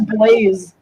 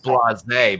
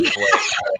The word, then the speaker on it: Blaise: His name was Blaze, and he was Hungarian. Ugh, God. Did he spell it like B-L-A-I-S? Blaise. Oh yeah, E. Okay. Oh, so it was blase, but he said it was Blaze.